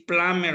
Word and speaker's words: plumber: architect a plumber okay don't forget that the b is is mute in here is mute we are not we don't have to pronounce b here you have we have to say plumber only okay plumber and let's